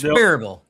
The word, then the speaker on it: Sperryville: Um it's pronounced Sparville, Gary Spurville. Sparville.